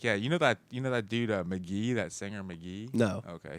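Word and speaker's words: Mk.gee: You know that dude McGee, that singer McGee. No. Okay, he just some. He's some crazy musician. His album was fucking hitting McGee? this week. It's spelled like MKGEE.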